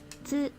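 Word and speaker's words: つ: Tsu. Tsu. It's a consonant. It is pronounced as tsu. The T sound is very soft, like in tsunami.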